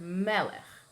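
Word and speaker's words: מלך: So let's use the word melech, accent on the meh, right?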